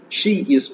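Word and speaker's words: 些: ஸோ இந்த எக்ஸ் வரும்போது இது நம்ம ஷி, எஸ்ஹெச்இ, ஷி யூஸ் பண்ற சிமிலர் அதே சவுண்ட் தான்.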